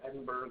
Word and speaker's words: Edinburgh: this from yesterday it's edinberg with an H but I mean the H is silent so who really cares